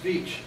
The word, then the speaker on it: Veitch: It's Veitch. Veitch, okay. It rhymes with Virginia Beach.